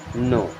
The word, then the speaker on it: know: KNOW, इसे पढ़ते हैं नो। अब देखिए यहाँ पे के होता है साइलेंट, ठीक है, इसे पढ़ते हैं नो।